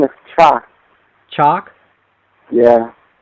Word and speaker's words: Cha: And As a matter of fact, his name is Cha. Chalk? Yeah. How do you spell that?